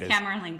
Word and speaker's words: Camerlengo: It's the Camerlengo, I believe is the pronunciation. I could be totally wrong on the pronunciation of it. There you go. Yes, it is. Camerlengo.